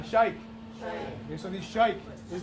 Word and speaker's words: sheikh: It's a sheikh, okay? Everyone say shai. Say ka. Say sheikh.